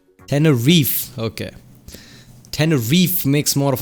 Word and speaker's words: Tenerife: But in the UK, in England, we just say Tenerife. Tenerife. Okay. Tenerife makes more of a sense. E gets silent.